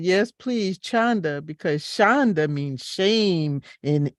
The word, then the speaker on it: Chanda: And he was making sure he pronounced her name right. And she said, yes, please, Chanda, because Chanda means shame in Hebrew, in Yiddish.